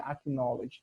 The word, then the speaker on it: acknowledge: Vocês lembram lá quando eu falei que quando tem palavras com o K e o N juntos, a gente não pronuncia o K, né? Então não seria acknowledge, seria acknowledge the importance of ensuring safe conditions.